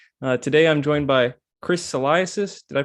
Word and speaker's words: Salaises: Today I'm joined by Chris Salaises. Did I pronounce that right?